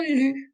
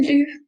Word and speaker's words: loup: Okay, so if we note this part of the word, the P, I'm not pronouncing it as it's at the end of the word, so it's silent. Un loup.